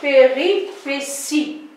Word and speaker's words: péripéties: péripéties les pays riches et si ça s'écrit périphérie petty mais ça se prononce péripéties qu'est ce que c'est